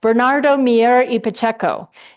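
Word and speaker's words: Bernardo Miera: about Bernard H, let me say it right, Bernardo Miero, the Domingus and Escalantes unruly cgrapher.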